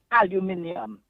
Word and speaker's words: aluminium: Now, take the word aluminium. That's how the English say it. Right? But aluminum is how the Americans say it.